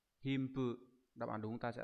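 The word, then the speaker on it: 貧富: À, nó sẽ đọc là Himpu.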